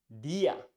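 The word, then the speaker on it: día: let's see the next one e which is the same sound that you find in words in English like B I'm watching Spanish like DIA e DIA which DIA means Day in Spanish you pronounce that DIA DIA let's see the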